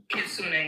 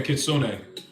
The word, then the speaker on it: Kitsune: So, is the name pronounced Kitsune? Kitsune, yeah. Okay, Kitsune.